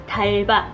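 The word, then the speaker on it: d'Alba: Tulisannya tuh di Alba, tapi dibacanya tuh bukan The Alba ya teman-teman, tapi Dalba.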